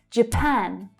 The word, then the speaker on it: Japan: Again, we have the J consonant sound followed by the schwa, which tells us that the first syllable is unstressed. J, J, J. Japan. So that's the A as in apple. Strong vowel sound in the second syllable.